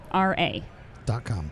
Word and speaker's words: Archneura: ARCHNEURA. .com. Yeah, so it's like architecture and neuron, but Ooh.